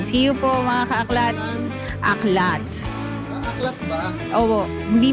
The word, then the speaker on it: Aklatte: Ang pronunciation ko eh Aklate so nakausap ko yung owner aklat. AKL tailitan. Ako rin talaga aklate. Wala. Ala. So aklat pala.